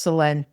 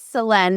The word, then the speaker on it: Selene: My name is pronounced Selene. Oh, no. I'm sorry. Okay. You can leave that. It's funny. I don't know. Well, now everybody will know for sure it's Selene.